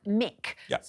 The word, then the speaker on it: Muick: And that was on the edge of Loch Mick, spelled Muick, but pronounced Mick, which is also, there's